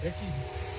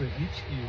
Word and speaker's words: ichki: It's spelled in the Muscogi language e c ke looks like eki. It's a ichki. That c is a ch.